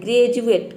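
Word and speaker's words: graduate: ग्रेजुएट, ग्रेजुएट में देखिए डी को हम ज प्रोनाउंस करें, ग्रेजुएट, इसमें ड कहीं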